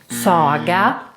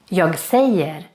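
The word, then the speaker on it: säga: number five to say very important to not pronounce this verb as Saga or saga even if it's written in another way than in English it's still pronounced quite similar to English we say to Sayer I say I said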